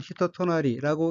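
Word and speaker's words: 人となり: 둘째 줄 첫 번째 어휘는 한자가 사람 인자가 들어있고 일본어로는 히토토나리라고 읽으며 히토토나리는 타고난 성질, 천성, 사람됨, 사람됨됨이란 뜻의 명사이고 히토토나리의 그 동의어는 우마라츠키, 타고난 것, 선천적인 것, 천성입니다.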